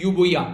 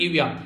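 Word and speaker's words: Euboea: अगर अभी बात की जाए यहाँ पर दो, यहाँ पर बेसिकली वर्ड यूज किए गए, यहाँ पर ई साइलेंट है, इसको बोला गया है यूबोया, ठीक है, यूबोया या फिर इविया।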